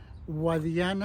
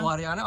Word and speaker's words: Guadiana: Guadiana. Guadiana. Okay. It's sort of like guardian, but with an A.